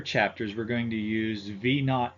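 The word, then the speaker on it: V₀: V sub 0 is actually pronounced V naught, and it means velocity at time 0, also known as the initial velocity.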